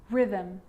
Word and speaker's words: rhythm: occasions it's not pronounced the H is silent so it's choir choir echo echo with a g-ghost ghost and with an R rhythm or rhyme good news